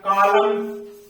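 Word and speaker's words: column: माने होता है प कलम कॉलम माने होता है स्तम तो इस तरह से इस प्रकार के शब्द आते हैं एम और एन अगर साथ में आते हैं तो उनमें से एन हमेशा साइलेंट हो जाएगा ओ व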